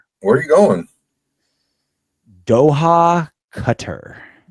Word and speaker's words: Qatar: I' I've heard cutter, too, but it's gone by Qatar because I I feel like it's one of those things where it's like saying it wrong is what everyone calls it. Qatar. So, when you say it correctly, cutter, everyone's like where?